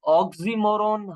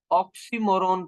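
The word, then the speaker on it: oxymoron: optional है क्या ये बेसिकली इसको स्टूडेंट्स रोंग प्रोनाउंस करते हैं इसको ऑक्सीमोरों हम नहीं पढ़ते इसको हम ऑक्सीमोरों पढ़ते हैं हम इसको प्रोनाउंस करेंगे अगर आप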